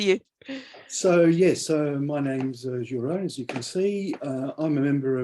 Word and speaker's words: Gilles: Yeah, you don't pronounce the S usually. It's okay. Gilles or Gilles is fine. Great. Fine. Thank you. Over to you. So yes, my name's Gilles, as you can see.